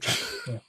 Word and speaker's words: Chappell: And back in the early 2000s, Dave Chappell, not the comedian, but the his name is pronounced differently. Not Dave Chappelle, Dave Chappell.